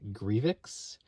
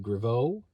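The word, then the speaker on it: Grevioux: It was written by, now, there's some difference of opinion about the man's name, but the man himself says it's pronounced Kevin Grievous.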